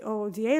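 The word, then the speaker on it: OODA: Loop or UDA Loop however you want to pronounce that I like to say o da Loops because I'm you know I like to spell things out so yeah but last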